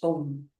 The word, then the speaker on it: Om: And that connection is felt through the vibrations as you chant Om. It's a combination of 3 syllables, A, O, M.